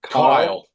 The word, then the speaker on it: Kiel: Kyle. Yep, Kyle. yep. What's up? This is from Signs of the Swarm. You're watching the Simon and Kyle show.